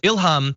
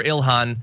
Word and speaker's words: Ilhan: So Ilhan Omar says, Ilham, I prefer Ilhan.